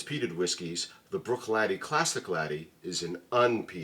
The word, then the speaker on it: Bruichladdich: 108 109 breish Lish Brook latty but it is spelled breish lsh this is the brook